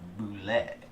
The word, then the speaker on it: Bulette: We went and inspected those, and we discovered that it was a Bulette. Right? Bulette? Bulette. Bulette. If you go want. with the Gygaxian pronunciation, Alright.